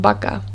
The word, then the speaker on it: vaca: and baka which is v-a-c-a now if we were to read both of those words in english it would be vino and vaca whereas in spanish it's bino and baka it's also quite typical